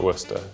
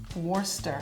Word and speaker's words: Worcester: these these are amazing how would you pronounce that word worchester sauce we basically light everything and call it worcester worcester worcester sauce worcester worcester sauce and